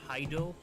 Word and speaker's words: Hideo: I find it's pronounced Hideo.